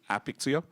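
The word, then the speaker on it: Apixio: company is really interesting a pixie oh I don't know how to pronounce it but it is API plus X plus IO right that's why the company is called a pixie oh so what they do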